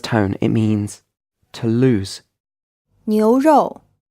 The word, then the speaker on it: 牛肉: This word is pronounced in the second tone and the fourth tone. It means beef. Did you get the O sound at the end of this syllable? Try saying it again.